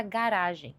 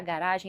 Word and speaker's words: garage: No inglês americano é pronunciada assim: garage. Garage, ou seja, a última sílaba tônica. Mais no inglês britânico é pronunciada garage. Garage com a primeira sílaba tônica.